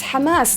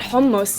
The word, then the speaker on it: Hamas: in the Middle East it's Hamas not homos you don't eat it Iraq I'm sure I